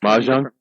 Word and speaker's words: Mojang: the Swedish game developer Mojang Mojang moang I've heard it pronounced moang Mojang I say Mojang Mr mojangles but it